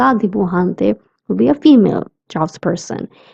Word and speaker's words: dibujante: The J sound in dibujante is k. That's why I'm saying dibujante and not dibujante. We don't pronounce it as j but k.